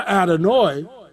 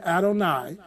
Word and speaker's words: Adonai: insert the vowels for adenoid i know some people say adonai but no it's in the hebrew it's adenoid and that means lord or